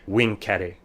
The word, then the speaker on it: vincere: of this is why when romans talked about conquering they said wing carey and why caesar's phrase